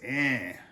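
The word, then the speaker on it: enh: Another example is the word for yes, which is eh. It's spelled E-N-H, eh.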